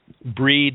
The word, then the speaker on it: Brighid: also called breeds day breed we would pronounce Brighid you know you probably know women that are known bridges that there may be from Irish and sensory but it's actually pronounced breed and she was an